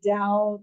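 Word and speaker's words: Tao: Dow now so he talks about the the Dao the book of the Dow like it's um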